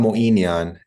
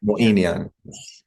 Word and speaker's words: Moeinian: Moeinian. It's quite Moeinian. Yeah. Moeinian.